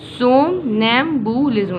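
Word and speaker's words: somnambulism: आगे देखते हैं सोमनैम्बुलिज्म, इसको ऐसे पढ़ो, सोम, ठीक है, नैम, बुलिज्म।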